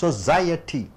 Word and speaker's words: society: சமுதாயத்தில் பாருங்க, இந்த society 4 சத்தங்கள். society, society, society 3 சத்தங்கள் வருகிறது. இதுல society, இதுல மூன்றாவது சத்தம், இரண்டாவது சத்தத்துக்கு அழுத்தம் கொடுக்கணும். society, society, சாரி 4 சத்தங்கள் வருகிறது. society, ஸோ ரெண்டாவது சத்தத்துக்கு அழுத்தம் கொடுக்குறீங்க.